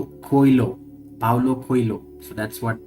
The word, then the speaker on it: Coelho: and you know how Indians are good at pronouncing Spanish names. It's called Coelho.